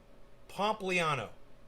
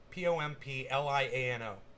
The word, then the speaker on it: Pompliano: was the guest this guy's name is anthony pompliano just like it's pronounced p-o-m-p-l-i-a-n-o pompliano anthony january six panel votes to hold